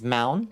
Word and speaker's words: mountain: Listen, the correct spelling phonetically is mound, but you'd read it better if you typed it mountain. Yeah. Hard T's just go away in casual speech.